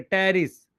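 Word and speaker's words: Pteris: Marchantia, moss में आएंगे sphagnum, poly ट्राइकम, poly ट्राइकम, Funaria, Psilotum, P silent है, साइलोटम, टेरिस, पी साइलेंट है, टेरिस, ड्रायोप्टेरिस, अडियंटम, azolla, Salvinia, equi, equi सीटम, स्लेजिनेला, lycopodium, सही है, Pinus, cedrus, cycas, sequoia, ginkgo.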